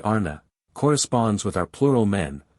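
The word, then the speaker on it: Ana: individual inclination chapter 10 the word Anna pronounced broadly ARA corresponds with our plural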